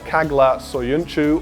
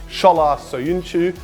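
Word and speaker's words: Çağlar Söyüncü: been linked with 21 year old Freiburg defender K glass so Yun Chu or as he's actually pronounced shala so you knew but he's pretty raw and I still have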